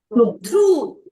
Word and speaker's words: through: Now, the last one, how do you pronounce? Throw. Through.